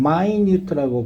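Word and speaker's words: minute: 이거 이거 절대 미니 하면 안 돼요. 미니 하면 1분 2분 3분 4분 할 때 이렇게 그거야. 이건 마이뉴트라고 발음합니다. 마이뉴트 알겠지?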